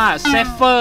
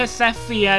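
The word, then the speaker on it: Falkner: ที่ forner ให้ มา มัน อ่าน ว่า เฟอร์ นะ ไม่ ใช่ เฟีย หรือ ว่า อะไร ที่ ผม พูด ไป เมื่อ เมื่อ Ep ที่ แล้ว นะ เพราะ ว่า ผม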